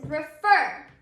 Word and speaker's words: refer: you say that word you can hear that our accented syllable is our last syllable in the word refer so yes our last syllable is accented in that word however when you add